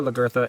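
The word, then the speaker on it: Lagertha: The way it's spelled there is an R in it. So whether it's Lagatha or Lagartha, it's totally fine, right?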